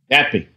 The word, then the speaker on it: NATPE: And it's about the, how do you pronounce the NATPE convention? The NATPE? NATPE.